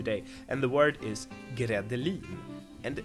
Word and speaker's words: gredelin: spelled like grädde, and I guess it's not related to that word either.